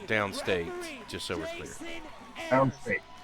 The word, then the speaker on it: Downstate: Is it downstate? Is that how it's pronounced? The number one person Oh, it was downstate. I thought it was down straight. There's not an R in there? No, there's no R.